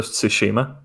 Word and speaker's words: Tsushima: uh was it to schubert that did i pronounce it because the tsushima yeah that's how you pronounce it yeah i